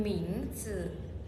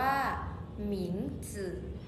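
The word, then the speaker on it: 名字: ย่า อี้ผิง ฉ ย่า อิง คำ ที่ 5 หมิง จึ อ่าน ออก เสียง ว่า หมิง จึ หมิง จึ มี ความ หมาย ว่า ชื่อ ส่วน ใหญ่ จะ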